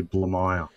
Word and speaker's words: Blamire: pronounce your last name the the easiest way to pronounce it is actually blue mile okay see and I